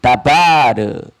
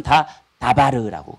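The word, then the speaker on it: דבר: 숨기는 것 일 여기 다바르 다바르 발음도 똑같고 글자 모양도 똑같아요 그런데 우리가 말하는 바르와 오늘이 본문에 나와 있는 다르는 발음만 좀 다를 분 다 똑같아요 다 똑같아요 다바르 다바르 바가 장음이 나와요 그런데 다 똑같은 발음이에요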